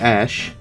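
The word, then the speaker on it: Æ: it with i mean it's just x the letter x and then it's a which is pronounced like ash and then it's a12 a12 is my contribution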